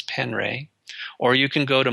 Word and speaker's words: Penre: His last name is spelled Penre, Wes Penray.